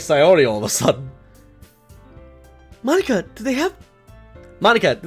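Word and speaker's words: Monika: Monica.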